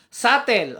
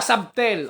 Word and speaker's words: subtle: Wow, English subtle, di ba? Sabi nung iba, subtle, pero ang tamang bigkas daw ay subtle.